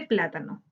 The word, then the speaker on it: plátano: acá en esta presentación busquemos la sílaba tónica de plátano plátano ah no como